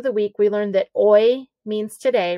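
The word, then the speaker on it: hoy: week we learned that oi means today remember the h is silent oy s l and then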